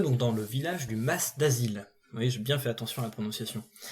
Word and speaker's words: Mas d'Azil: Nous sommes donc dans le village du Mas d'Asile. Oui, j'ai bien fait attention à la prononciation.